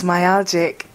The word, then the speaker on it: myalgic: It's myalgic.